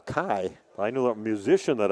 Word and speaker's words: Key: or 20 years, and name was Paul Kai, and it was spelled K-E-Y. He went by Paul Kai.